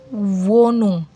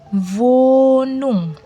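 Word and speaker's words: Wohnung: Ha bila berada di tengah kata maka dihilangkan. Nah, contoh wonung. Wonung. Vonung hannya hilang karena dia berada posisinya di tengah-tengah kata artinya tempat tinggal.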